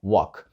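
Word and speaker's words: walk: вчора означає йти ходити Як бачите там є літера L але вона не вимовляється ми просто кажемо WOG так Ось як ми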